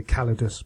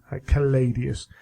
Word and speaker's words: Caladius: I was going to say Calidus, but it's not. Caladius.